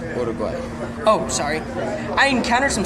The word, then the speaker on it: Uruguay: On my hike to Garden Grove Mountain, I encountered some scouts from Uruguay. It's pronounced Uruguay.